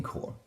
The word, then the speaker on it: corps: Now, you're already familiar with it because of the Marine Corps. It's spelled C-O-R-P-S, but it's pronounced C-O-R-E.